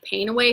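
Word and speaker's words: PanAway: that much money so panawe is for all things it was spelled PA and E so pain away phonetically and they made us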